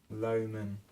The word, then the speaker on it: Loman: Loman. I know it's spelled L-O-M-A-N, but it's kind of, his family name has connotations of being low or less than great, or even less than average.